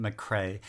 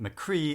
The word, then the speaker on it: McRae: mrs engels by gavin mcrae and i do know it is mccrae not mccree as i originally pronounced